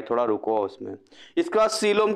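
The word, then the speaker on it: coelom: इसके बाद सीलोम की बात करते हैं। सीलोम में ओ साइलेंट है, याद रखना, ई कहीं खेल है, ये ई का खेल है।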